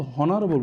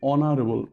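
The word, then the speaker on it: honorable: তো দেখো এইচের উচ্চারণ যখন ওর মতো হবে, তাই না, অনারেবল, আমরা কিন্তু হনারেবল বলছি না, আমরা বলছি অনারেবল, ভাওয়ালের মতো উচ্চারণ হচ্ছে, তাই না, ও অনারেবল, এর উচ্চারণটা কী হবে অনারেবল।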